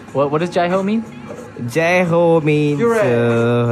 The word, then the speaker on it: Jai Ho: Jai-ho means like hooray, yeah. Like you all say right. Hooray, hip hip hooray, something like that. All right. So how would you pronounce it? J-A-I-H-O.